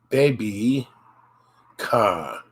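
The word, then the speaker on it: ベビーカー: It's be not B, be, B, and you extend it, baby car, baby car, baby car is baby car.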